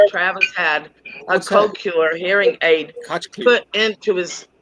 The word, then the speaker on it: Cochlear: pronounce that, Randy? Cochlear. Cochlear.